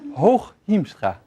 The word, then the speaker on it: Hooghiemstra: I promised to help you pronounce the name, right? The name is Hooghiemstra.